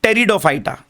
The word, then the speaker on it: Pteridophyta: देखिए उसका pronunciation P है बट पी is silent, we call it टेरिडोफाइटा।